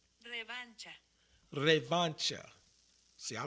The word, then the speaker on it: revancha: Now this word right here, revancha.